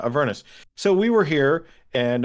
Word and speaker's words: Avernus: in everness here we or is it a vernis because i've heard it pronounced both ways avernus yeah avernus so we were here